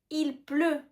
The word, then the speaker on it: il pleut: il pleut il pleut on ne prononce pas le té à la fin il pleut il pleut